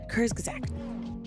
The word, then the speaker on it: Kurzgesagt: use- Okay, so this video is by Kurzgesagt. Okay, y'all help me again, please. I have the hardest time saying the name of this. Kurzgesagt. Did I say it right this time? Kurzgesagt.